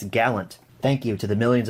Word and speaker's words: Gallant: can say it right it's not galleon it's gallant thank you to the